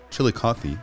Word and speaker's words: Chillicothe: Matt is a photographer who's documenting life in Chillicothe, I hope I said it right, in Ohio.